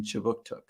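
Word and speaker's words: Kjipuktuk: Services conducts business in Chibuktuk, which is how you say Halifax, Nova Scotia in the Mi'kmaq language.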